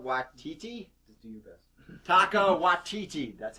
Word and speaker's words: Taika Waititi: Taika Waititi, that's how you say it, folks.